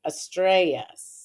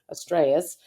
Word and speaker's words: Estrellas: Estrellas. That's right. Is that better? Yeah. Okay, the two L's are like a Y. Just learned that. Estrellas.